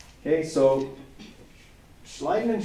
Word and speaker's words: Schleiden: Matthias Schleiden and Theodor Schwann. That's how you pronounce it.